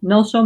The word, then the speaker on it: NgalSo: NgalSo means ease or well-being or relaxation in Tibetan, But it's got 2 syllables, Ngal and So, like in English, relax, So Ngal means dealing with